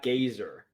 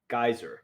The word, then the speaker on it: Geyser: not Gazer. Geyser.